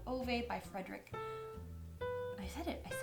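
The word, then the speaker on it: Fredrik: It's called A Man Called Ove by Frederick. I said it right. Frederick Bachman.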